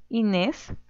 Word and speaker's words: Inés: Siguiente, Inés, Inés. Muy bien, sílaba tónica, nes.